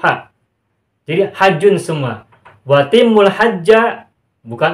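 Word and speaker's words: حَجّ: berbunyi walillahi 'alan nasi hijjul baiti, dibacanya tidak hijju, tidak hi tetapi ha. Walillahi 'alan nasi hajjul baiti manistata'a ilaihi sabila.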